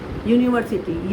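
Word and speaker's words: university: यूनिवर्सिटी, य, तो ये वोवेल कॉन्सोनेंट साउंड कर रहा है। यूनिवर्सिटी स्पेलिंग यू से चालू होती है बट साउंड क्या आ रहा है?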